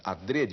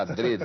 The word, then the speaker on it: adrede: adrede o Aurélio recomenda adrede a pronúncia fechada adrede né que quer dizer de propósito feito de propósito alg alguns professores falam Adre né É muita gente fala Adre mas o Aurélio recomenda ADR o que não quer